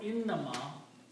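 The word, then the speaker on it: إنما: If you don't pronounce this inama correctly and you pronounce ina and ma if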